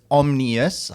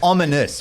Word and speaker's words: Omnius: but speaking of omnius it's omnius um we have a page on the website that says how to pronounce the name sir it's not ominous but the weird thing